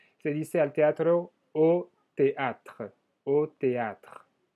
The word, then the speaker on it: théâtre: Se dice al teatro au théâtre, au théâtre. El E final no se pronuncia, pero existe como todavía ese sonido de los consonantes anterior.